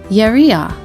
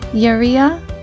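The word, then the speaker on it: יריעה: The second word on the screen is Yeria. It means curtain in Hebrew. Can you say Yeria? Good. It is spelled with the following letters of Yud, Resh, Yud, and Hey. Yeria.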